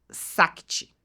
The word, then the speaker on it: Shakti: que é o Shakti, ele se escreve Shakti, que fala sobre a liderança feminina, masculina, que é esse ponto que a gente comentou, a liderança Sakti, né? E tem um H no meio, tá?